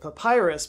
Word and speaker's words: papyrus: Also, you're welcome for me pronouncing it papyrus, because half of you glitched out in my cylinder seals video when I said it a different way.